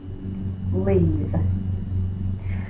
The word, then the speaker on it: leave: This silent E is only here to protect that V. Leave.